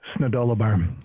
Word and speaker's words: Snodoloberm: It's Snodoloberm.